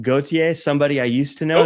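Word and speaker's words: Gotye: Now, just like how did you pronounce his name? Gautier, somebody I used to know. That was another big one. Yes, Gautier.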